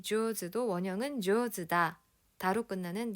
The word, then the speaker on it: 上手: 하루타군 조즈 무슨 뜻이었는지 기억나는 사람. 자, 여러분 우선 한자를 보세요. 윗상자의 손수자입니다. 상수죠. 얘를 조즈라고 읽는 거고요.